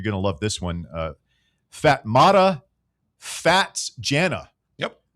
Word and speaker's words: Fatmata: to love this one, Fatmata Fats Jana. Yep. You are not pronouncing that kid's name. I'm right. pronouncing it exactly correct. It's I'm actually even correct. reading from the pronunciation guide right now.